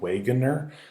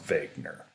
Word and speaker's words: Wegener: are who's Alfred Wegener I know it looks like Waggoner but a last name is German so it's pronounced vacant er who was out for vague nur what is his theory